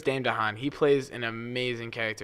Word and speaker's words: Dane DeHaan: like Daymond Don wait how do you pronounce his name Dame de Haan I'm pretty sure I'm probably butchering it it some pretty sure it's Dane DeHaan he plays an amazing